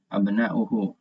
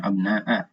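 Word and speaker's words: أبناءُ: Di sini ada waw, ya, di bawah hamzah, abna'uhu. Nah, ini juga memberi petunjuk kita bahwa cara membacanya adalah dhammah, abna'u, bukan abna'a, ya, tapi abna'u.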